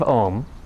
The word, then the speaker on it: Om: Swami says that Om has 4 syllables. A, U, M, and then silence.